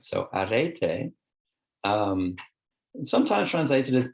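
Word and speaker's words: ἀρετή: is in ancient Greek unlike English there are no silent vowels so wherever you see a vowel it's pronounced in its own right so Arete um and sometimes translated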